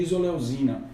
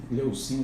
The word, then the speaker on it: isoleucina: No caso do BCA é valina, leucina e isoleucina, que são os três leucina, desculpa, é porque o C e o Z tem uma pronúncia assim, isoleucina.